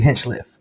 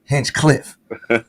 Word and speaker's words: Hinchliffe: you've always pronounced it Hench Cliff so that's how I know if you're really from Patterson if you say Hench Cliff you really from Patterson if you say Hench